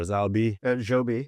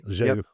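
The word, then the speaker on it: Zhou B: And then have you been to the I think I don't want to pronounce it wrong, but I think it's Zubi or Zalbi. Joby. Joby. Yeah, So Joby, the two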